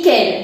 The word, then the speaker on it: quel: Como lo puedes ver aquí, tenemos quel, quel, quel y quel. De hecho, todos se van a pronunciar igualito y se pronuncian quel.